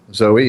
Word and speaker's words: Zoe: a YouTube channel dude don't ever say zo again or people will Eat You Alive sorry Zoe that's not how Zoe is even spelled why would he be pronounced like that it's it's Zoe trust me okay I